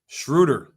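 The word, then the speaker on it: Schröder: to shot can we schrudder not schroer schrudder let's say it with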